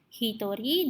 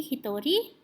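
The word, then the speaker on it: ひとり: Yang berbeda hanya sendiri dan berdua. Hitori dan futari. Mereka mempunyai penyebutan spesial yang berbeda dengan pengucapan sangnin, yongnin, dan angka lainnya. Jadi bukan ichinin atau ninin, tapi hitori dan futari.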